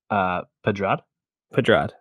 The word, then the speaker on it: Pedrad: Pedrad.